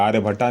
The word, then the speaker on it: आर्यभट्ट: आर S scholars scholars आर्य भट्टा आर्य भट्टा ए आर्य भट्टा नहीं होता है आर्य भट्ट होता है ए आर वाई ए